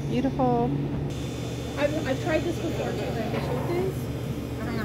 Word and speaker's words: chayote: Chayote? I don't know how to say it. Chayote. Yeah, thank you. I just omit the ch part.